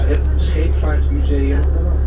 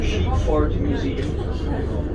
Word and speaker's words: Scheepvaartmuseum: It says Het Scheepvaartmuseum. If you pronounce that in English, it will say the Sheepvaart Museum. That's something different.